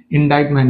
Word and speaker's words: indictment: And ఇది indictment లో ఏది silent letter అంటున్నాడు. డైరెక్ట్ ఆన్సర్ ఇక్కడ T అనేది silent, right?